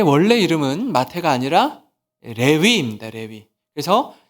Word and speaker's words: 레위: 레위, 여러분, 레위. 영어로 스펠링이 L-E-V-I예요. 레위. 야곱의 셋째 아들. 리바이스이죠. 리바이스. 그게 레위요, 레위. 원래 이름이 우리 발음으로 레위라고 하는 거예요.